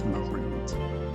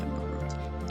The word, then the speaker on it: Marud: Actually, his name was Marud. That's how you say it, Marud. M-A-R-U-D, Marud. Like, you're rude.